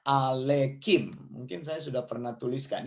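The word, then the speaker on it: עליכם: Jadi dibacanya alekim. Mungkin saya sudah pernah tuliskan ini. Hevenu shalom alekem ya.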